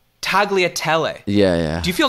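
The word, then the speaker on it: tagliatelle: I looked it up you don't even pronounce the G apparently there when uh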